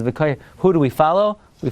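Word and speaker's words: וְקוֹיֵ: You know, you want to know, how do you pronounce in the Haftarah of Lech Lecha? V'koyeh Hashem Yachalifu. So some Balikar will say V'koyvei. That's not what the Mincha Shai says. Mincha Shai says V'koyeh.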